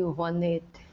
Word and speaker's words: Rouanet: A Lei Rouanet se pronuncia Lei Rouanet, mas escreve Lei Rouanet.